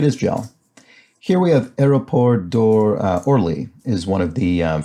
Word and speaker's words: aéroport: Here we have Aéroport d'Orly is one of the French airports near Paris. Orly Airport. Aéroport d'Orly, my terrible pronunciation. I always struggle with this because you have to separately pronounce aéroport.